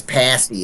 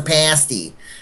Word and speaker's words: pasty: they don't pass these i get yelled at for saying it wrong it's pasty it's a pasty tasty it's a pasty it's